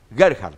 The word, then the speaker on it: Gerhard: de aligerar está bien está bien como lo pronunció usted a ver qué hará heart gerhard perdona iba a cargar pero tengo que aprender